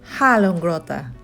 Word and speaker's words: Hallongrotta: A ver cómo está mi pronunciación en sueco. Hallongrotta.